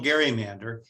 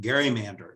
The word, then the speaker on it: gerrymander: and by the way many people don't know that that word is pronounced gerrymander you'll often hear gerrymander even from news reporters but now you know how it's really pronounced we still see gary